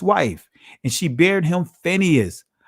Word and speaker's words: Phineas: and she bare him Phineas, Payanakas, or Payanakas, right? That's the ancient pronunciation of Phineas.